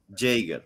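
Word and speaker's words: Yeager: es que ha fallecido Chuck jiger jaer según la pronunciación inglesa que nos ofrece uno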